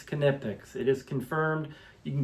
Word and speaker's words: Knipex: Uh at work I actually talked to the Knipex rep and it is pronounced Knipex, not Nipex, but Knipex. We say the K.